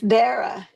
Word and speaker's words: Dara: It's Dara. It's Dara. I thought it would be Dara, but it was more like Sarah.